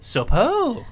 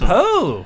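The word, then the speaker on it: Söpö: So his name is spelled S-O with an umlaut P-O. Super. It's Sopo. So The umlaut's on the second O. Sorry. Oh, that's suppose. Yeah, that's Sopo.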